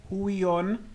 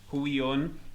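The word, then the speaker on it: Huion: my pick of the week is Hui on yes that's how it's that's how you pronounce it Hui on H 610 Pro v2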